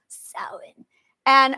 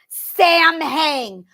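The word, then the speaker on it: Samhain: gang it's not pronounced Sam hang Americans it is pronounced sa okay sa s a m h a i n s because when you have M and H together it's a w sound s okay B is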